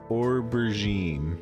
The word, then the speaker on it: aubergine: than eggplant words are weird okay it's pronounced aubergine okay or brigitte i guess that's an unfollow